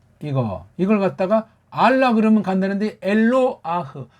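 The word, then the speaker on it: אֱלוֹהַּ: 이걸 조금 말이 오늘 굉장히 하나님을 표시하는 이걸 갖다가 알라 그러면 간다는데 엘로아흐 발음도 제대로 하는 사람 들어본 적이 없어요. 엘로아흐예요.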